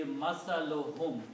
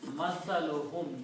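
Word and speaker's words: مثلهم: When we combine these two, it will be masaluhum. We don't pronounce two dhammas, one only. So the word becomes masaluhum, which is the word in the Quran.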